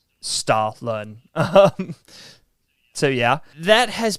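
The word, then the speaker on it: Stollen: um wow okay it it's spelled s-t-o-l-l-e-n but if you were to pronounce that in the uh you know pronunciation sure by Germans it's Stalin um so yeah that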